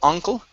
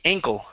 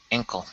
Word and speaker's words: ankle: okay good um here this word is pronounced ankle instead of uncle ay ankle ankle okay good and another